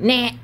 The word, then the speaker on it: NANT: And you say like, nah.